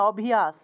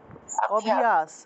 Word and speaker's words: অভ্যাস: অভ্যাস একসাথে অনেকেই আছেন আপনারা একটু সময় নিয়ে অভিস এভাবে উচ্চারণ করেন অভিস হবে না এখানে তো আপনারা অভিস আলাদা আলাদা করে ফেলেন আলদা আলাদা করলে হবে না অভি অভ্যাস এরকম করলে হবে না উচ্চারণ হবে উচ্চারণ হবে অভ্যাস একসাথে অভ্যাস অভ্যাস ব্যবস্থা ব্যবস্থা অভ্যাস